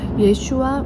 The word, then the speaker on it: 예슈아: 예수님은 바로 구원자이십니다를 선포하는 것이 예슈아 메시아흐라고 고백하는 것입니다. 지저스 크라이스트는이 제이라는 발음이 어 그 영어로는이 어 예 예 예슈아를 표현할 수 없기 때문에 지저스라고 이제 발음을 했지만 우리가 저 또한 제 이름은 한나인데요.